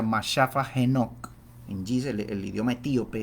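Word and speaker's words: መጽሐፈ ሄኖክ: El también conocido como primero de Enoc, uno Enoc en Giz, se pronuncia Mashafa Enoc, en Giz, el idioma etíope, es un texto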